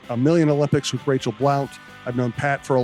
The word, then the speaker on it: Blount: No, the basketball player pronounces it Blunt. And I'm like, right, but I know her and it's Blount.